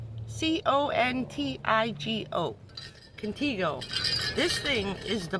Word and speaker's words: Contigo: Contigo? C-O-N-T-I-G-O.